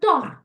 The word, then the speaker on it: tort: As you guys can see, I am not pronouncing the last T here, which is the T sound. We don't pronounce it.